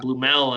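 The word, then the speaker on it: Blümel: Blumel, I'm kind of speaking my English there. I'm not sure if that's officially the way to say it, but nevertheless, he was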